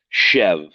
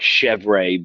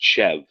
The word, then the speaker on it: Chèvre: are facing forward, the the two letters that are reversed are silent. Now you know it's chev from from now on.